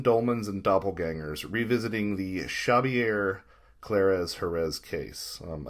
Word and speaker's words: Xavier: clares Herz case um I've spoken to some individuals in this part of the world who say shabier is probably the closest that we can get to actually pronouncing his name correctly um so let's just